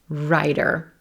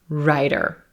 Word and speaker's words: writer: What's happening here is that T in W-R-I-T-E-R is becoming a flap T or a quick D sound, which will happen in between two vowel sounds when that T